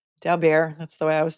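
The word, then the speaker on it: Daubert: people call it a dabert hearing I like to say it the French way Dow bear that's the way I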